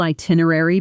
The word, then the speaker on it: itinerary: The correct stress lands on the second syllable, itinerary. Slowly, itinerary.